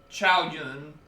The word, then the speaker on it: Zhao Yun: So you don't pronounce it as cow, you pronounce it as Sao. That's I've learnt that from watching enough Dynasty Warriors content. So I think he's like Zhao Yun. Is the way you're supposed to pronounce his name.